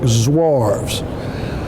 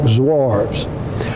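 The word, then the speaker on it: Zouaves: a South Carolina boy I don't speak French and there are other pronunciations for that but for purposes of us today they are called the New York zarves now they were held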